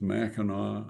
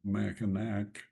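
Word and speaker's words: Mackinac: Again, the the local pronunciation is Meno, not Machinak.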